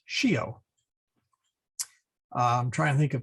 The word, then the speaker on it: scio: There's a noun, or sorry, there's a verb in Latin, scio, which means I know, SCIO. So it's not pronounced scio, it is pronounced scio.